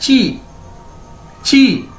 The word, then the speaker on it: ji: लेकिन चाइनीज में इसको ऐसे नहीं बोला जाता, चाइनीज में इसको बोला जाता है ची, ठीक है।